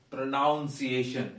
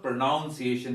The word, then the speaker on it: pronunciation: sorry to learn that some people said pronunciation it is not pronunciation there is no pronoun the word like that it is actually pronunciation get this feeling it is not n-o-u-n it is anywhere pronunciation and actually the stress goes here it is sheathing pronunciation so i hope you will uh pronounce it correctly another word that is